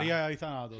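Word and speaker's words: ελευθερία ή θάνατος: In Greek, it's eleftheria ithanatos. That's 9 syllables.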